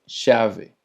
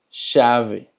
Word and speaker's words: chave: La CH en portugués se escucha más como si fuera una SH, es más ligerito, es más suavecito. Por ejemplo, es chave, chave, que significa llave.